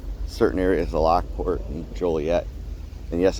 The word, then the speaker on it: Joliet: But if you call it Jolliette instead of Joliet, you could get a ticket cuz the people who founded it got tired of people mispronouncing the name.